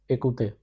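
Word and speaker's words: écouter: Ecouter. This means to listen. Pronounced as a couter.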